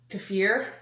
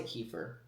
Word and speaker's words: kefir: I said it right. I always say kefir. I don't know why it's spelled like that. Okay, it's spelled like that. It makes sense in my head, but it's kafir.